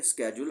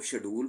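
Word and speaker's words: schedule: है एक स्ेड्यूल है तो ये फर्क ये है कि स्केेज्यूल अमेरिकन इंग्लिश में प्रोनाउंसिएशन है और शेड्यूल ब्रिटिश इंग्लिश में है। दोनों ही ठीक है। ये नहीं कि एक दुरुस्त है तो ये गलत है। ऐसा नहीं है।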